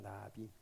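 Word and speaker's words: נביא: 선지자는 히브리어로 나비라고 합니다. 나비. 우리 한글에 나비 있죠? 예. 그 나비랑 똑같은 발음입니다.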